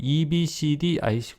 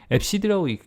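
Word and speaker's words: EBCDIC: 영어로는요, FCD 코드라고 그래요. EBCD, IC 코드 이렇게 읽기도 하겠죠. FCD라고 읽습니다. 읽기도 하고요.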